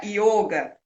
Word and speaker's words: yoga: essa sabedoria do yoga, não existe o som de ó, né? Aquele ó abertinho, assim. Não sei se é aberto que se chama, mas enfim, não tem esse som de ó. E aí se pronuncia yoga.